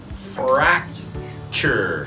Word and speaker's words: fracture: It's a fracture, just like picture, future. This becomes a ch sound, chur.